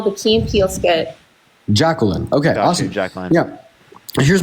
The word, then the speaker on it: Jacqueline: Jacqueline. Okay. Yeah, Jacqueline. Not. I know the Key and Peele skit. Jacqueline.